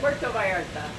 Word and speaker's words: Puerto Vallarta: Puerto Vallarta.